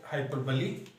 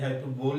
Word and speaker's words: hyperbole: Figure of speech में आज हम पढ़ेंगे हाइपरबली। और पहली बात तो ये प्रोनाउंसिएशन ठीक कर लेना, ये हाइपरबोल नहीं हाइपरबली है।